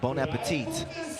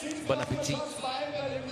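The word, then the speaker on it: bon appétit: Bonapetit. Bonapetit. You don't pronounce the T at the end.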